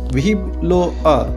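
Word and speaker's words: vive le roi: অপর দিক থেকে যে ব্যক্তিকে উদ্দেশ্য করে বলা হচ্ছে তিনি রেসপন্স করত ভিভ লো আ। ভিভ লো আ লেখার সময় আমরা লিখি VIVELEROI, কিন্তু উচ্চারণ করার সময় আমরা করে থাকি ভিভ লো আ। এর অর্থ হচ্ছে লং লিভ দ্য কিং, অর্থাৎ রাজা দীর্ঘজীবী হোক।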